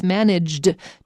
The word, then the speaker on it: managed: First of all, it's very hard to say it properly. Everyone thinks that it's managed to without the ed because the d blends in with the t. So don't get fooled. There's an ed there.